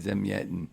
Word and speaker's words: Zamyatin: I can never remember turning how to around pronounce his name. Zagevny? Zagevny Zamyatin? Zemyetin.